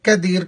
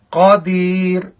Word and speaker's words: قدیر: معنی بدل جائے گا۔ قاف کو موٹا پڑھیں گے، نقطوں والا قاف، اس کو فل موت پڑھیں گے، اس کا تلفظ ایسے ہوگا قادیر قادیر، اور یہ ہے قدیر، قدیر نہیں بلکہ قادیر۔ اب آپ اس کلمے